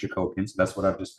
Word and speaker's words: Jacobian: But it looks like it's pronounced Jacobian, so that's what I've just been doing.